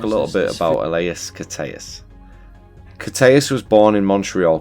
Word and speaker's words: Koteas: AC it's Angel Caruso last name is pronounced uh cus cus Ellas pretty name Ellas